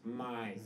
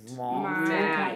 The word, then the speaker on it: mate: You've maybe quite got your pronunciation of the A part not quite right. So is it kind of an A acute with Let's say it out of your nose. Mate.